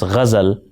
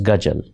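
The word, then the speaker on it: غزل: to learn the diction and pronounce ghazal as ghajal.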